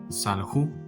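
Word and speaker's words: סָלְחוּ: Y aquí la pronunciación es salju, que significa perdonaron, es decir, ellos perdonaron.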